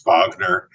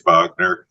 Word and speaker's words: Bogner: by the way dep it depends what country you're in uh because in in in the US it's Bogner in the UK it's Bogner in Germany it's bner in France